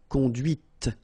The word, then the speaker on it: conduite: And that's when you hear the difference between conduit, because remember, final T is not pronounced, conduit, here, and then the feminine, conduite. Okay, so here you can listen to this t, t, okay, conduite, right?